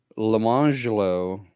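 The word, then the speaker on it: Lemonjello: jello and orange jello, but they were not pronounced lemon jello and orange jello. It was lemangelo and orangelo.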